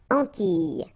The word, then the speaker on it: Antilles: So you get this E sound. Antilles.